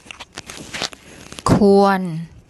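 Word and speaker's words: ควร: And the W consonant, when written like this, makes an ua sound. So ua. So K or N. I'll get Pom to say that for you. ค ว ร ค ว ร ค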